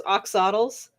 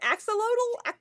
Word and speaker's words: axolotl: Um, so like there's a those, I'm gonna mispronounce this horribly, like those oxodals, those like weird salamanders. You know what I'm saying? Yeah, Again, I've always pronounced it axel.